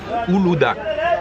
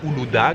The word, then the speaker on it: Uludağ: pied de la montagne Uludağ. Alors il y a un G avec un accent à la fin, mais je crois qu'en turc ça se prononce pas. Donc montagne Uludağ.